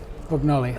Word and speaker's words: Brugnoli: Adam Fuller, 5-2 up after 4 ends against Samuel Brugnoli, is it? Brugnoli, yeah, well, you'll have to pronounce. I'll just point at you when I'm going Samuel. Brugnoli.